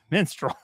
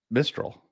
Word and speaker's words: Mistral: Mistral. It sounds the same. Same, but different. There's no N in there.